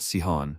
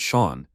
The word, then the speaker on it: Shawn: up Dena shouted that it was not Sian but Shawn she wanted to explain